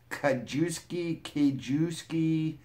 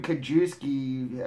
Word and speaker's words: Kajewski: This was a naked man in a chimney named Jordan Kajewski. It's like K-A-Jew and ski, how it's spelled.